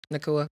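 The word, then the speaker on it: Nacua: Nakua.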